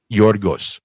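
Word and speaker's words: Γιώργος: I hated that I hated pronunciation for Greek in Greek. What is it? Yorgos.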